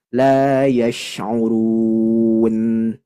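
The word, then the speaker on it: لا يشعرون: Terakhir huruf nun yang ada di akhir kalimat ayat. Maka harus tawassut. Tadi di antara rohwah dan syiddah, baina rikhwin wa syadid. Harus ditekan membacanya. La yash'urun.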